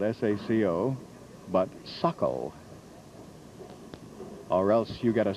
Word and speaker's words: Saco: learned very early that that is pronounced not the way it's spelled s-a-c-o but suckle or else you get